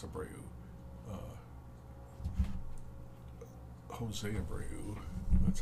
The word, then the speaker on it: Abreu: But Abreu, I think it's Abreu. Jose Abreu, that's how I always heard it pronounced.